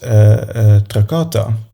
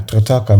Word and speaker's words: Trataka: technique I'm going to teach now is called Tracata Meditation, if I pronounce it correctly. Yeah, Trataka Meditation.